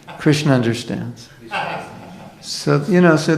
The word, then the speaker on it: Krishna: Mantra because it's not don't call me Krishna my name is Krishna that's the actual pronunciation so how many devotees